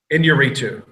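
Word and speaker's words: Iñárritu: G how do you SP the last name pronounce the last name inuu that's easy enough inuu he won for Birdman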